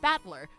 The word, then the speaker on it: Battler: The kanji is made up of the characters for fight and person and it's pronounced battler.